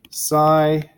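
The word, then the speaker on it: psi: any imaginary value and this thing here is pronounced sai mod squared right you read it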